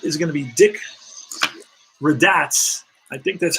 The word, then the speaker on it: Radatz: Raditz or Radats or one of those. Maybe Raditz. But he's a rat for sure. And let's quickly check out how you say his name here. Let's see. Let's see. Let's see how this will help us out. Raditz. Okay. Thank you.